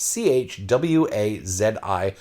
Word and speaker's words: Choisi: Now, Choisi is the French word for chosen, but they spell it not the French way. It's almost the South African or North African way. It's Chwazi, Choisi.